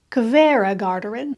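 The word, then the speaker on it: Hveragerði: guide told me that the H is pronounced like a k When in front of a v so this is Cava gardin this gentleman welcomed us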